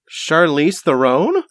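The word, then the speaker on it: Charlize Theron: name again Chara thron chariss theone that's how that's how Americans pronounce it so Charlie's Throne what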